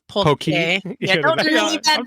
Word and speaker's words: poke: It's pronounced usually incorrectly up there, but it's poke.